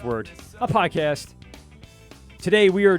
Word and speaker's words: Wort: Our YouTube page, just type in the search bar, The Wort, spelled Wort, but it's pronounced Wort, a podcast.